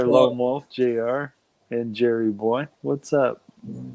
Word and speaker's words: Jerry Boy: Lone Wolf, JR, and Jerry Boy. What's up? Jerry Boy with a J instead of a G, but never mind.